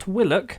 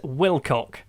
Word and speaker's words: Wilcock: Cove Connor Mahoney and Henry Wilcox not Willick I've realised this now his name is Wilcock I will call him